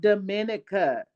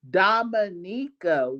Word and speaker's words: Dominica: So it is not Dominica, it is Dominica.